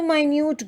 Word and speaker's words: minute: Minute and minute have the same spelling, but the pronunciation is different. Minute with an I sound talks about something small, while minute with a small E sound again talks about a small measure of time.